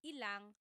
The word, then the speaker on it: ilang: Just a pronunciation tip, when there's ilan ang, it's usually put together and it's ilang.